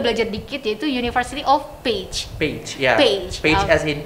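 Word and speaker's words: Pécs: It's page, bukan pektoralis mayor.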